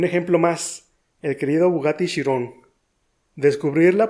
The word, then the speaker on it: Chiron: Entonces, si el término es griego, la pronunciación sería Chiron.